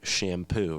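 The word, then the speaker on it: Champoux: gaia matrix by peter shampoo right well i bought that i pronounce it it's spelled with a ch it's a french spelling it's not like the what you put in to clean your hair right right right and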